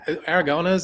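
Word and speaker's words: Aragonés: You know, I think there was Sergio Aragones.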